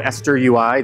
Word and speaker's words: XesterUI: source project it's called eser UI the x is silent uh I can explain